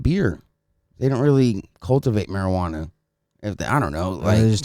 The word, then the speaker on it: marijuana: how you pronounce it pretty much in spanish it's marijuana with an h you know what i